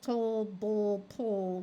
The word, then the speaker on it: table: i a y now these e at the end of the word do not get pronounced so they are silent E and they are there